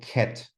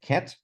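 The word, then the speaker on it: ket: this here is called cat not like the animal but K T that's how I pronounce it so I say this is cat for example um if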